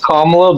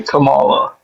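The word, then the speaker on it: Kamala: And you're Yeah, it's pronounced Kamla, but I prefer to say Camala.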